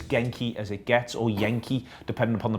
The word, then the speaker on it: Genk: as it gets or Yankee depending upon the pronunciation I've been reassured that is yank it's a silent G and then go Hank well there we are